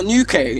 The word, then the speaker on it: Newquay: How can I pronounce it? Like in Cornwall, like. Oh, Newquay.